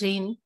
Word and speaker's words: rein: Rein, R-A-I-N is rain, and R-E-I-N is again rain. The pronunciation is the same.